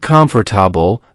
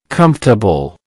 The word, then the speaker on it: comfortable: If you said comfortable, that's a very common pronunciation. In natural English, we usually say comfortable. Comfortable. Let's break it down. Comfortable. That's 3 syllables. The stress is on the first syllable.